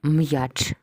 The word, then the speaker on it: м'яч: кожний звук запиши окремо зверни увагу на апостроф після апострофа буква я позначає два звука й а тому маємо так м й а ч три букви чотири звуки один склад тому що